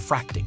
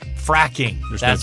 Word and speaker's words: fracking: from difficult places right it's called fracing right uh uh fracking fracking no te fracking there you go